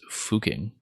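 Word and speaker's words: Fucking: place in Austria sgml well apparently the way the locals tell you you're supposed to pronounce it is fuking so you can imagine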